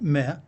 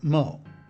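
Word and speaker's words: 么: It may be pronounced me or ma or mo. Chinese can't seem to make up their minds on how it is to be pronounced.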